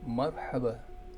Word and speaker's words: مرحبا: I will write the Arabic phrase with proper tashkil, but when you pronounce it, you have to pronounce the phrase without pronouncing the strokes at the end.